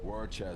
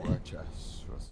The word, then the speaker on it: Worcester: Worcester. No, that's not how you pronounce it. Worcester. Worcester. Worcester, Massachusetts. Thank you.